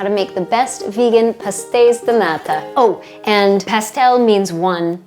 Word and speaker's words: pastéis de nata: I'm saying the Azorian pastéis. I feel like all the Azorian pronunciation is like shushing. So pastéis de nata instead of pastéis de nata.